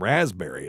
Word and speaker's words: raspberry: and um you know other words with silent P's include uh like pterodactyl and raspberry is a good one too so it's just a silent p and it's because the